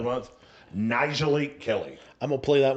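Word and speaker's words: Nyjalik Kelly: Nijalik Kelly.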